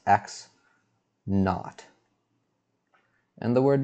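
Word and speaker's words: x₀: so by the way when we write x subscript 0 it's convention to pronounce this x naught and the word not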